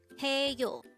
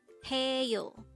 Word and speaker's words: 해요: The first syllable is he and the second syllable is yo. Pronounce it with me. HAEYO. HAEYO.